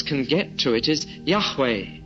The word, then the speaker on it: Yahweh: And so the nearest that scholars can get to it is Yahweh. Yahweh.